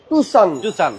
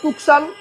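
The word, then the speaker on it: Tucson: গাড়িটার নাম হচ্ছে হুন্ডাই টুসান। এই টুসান রে অনেকে বলে টুকসান, কেউ বলে টাকসান, কেউ বলে টাকসুন।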